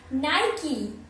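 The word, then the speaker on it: Nike: था निके होगा ये, पर निके नहीं है, ये है नाइकी, नाइकी, तो क्या है नाइकी, अब आप भी गलती मत करिएगा, नाइकी, एन आई और की चाबी वाला की, नाइकी ये वाला।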